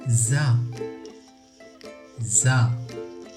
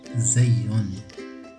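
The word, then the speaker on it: زاي: آخر مثله لكن بنقطة أعلاه وينطق زا زا. نحن نقول له زي، لكن الأحسن أن نقول زا زا.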